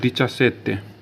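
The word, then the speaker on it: diciassette: बोलते हैं दची तो इसको क्या लिखते हैं दिचा सेत्य डी आई सी आई A double S ए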